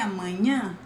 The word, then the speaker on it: amanhã: We have até amanhã, which is see you tomorrow. So let's repeat, this word is different because of the sound of NH.